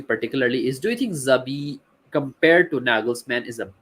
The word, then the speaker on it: Xavi: Uh, I don't know how you pronounce it, Jabi, or do you call it Zabi? Uh, I call him XAB, Xavi. I say Javi, Xavi. Javi.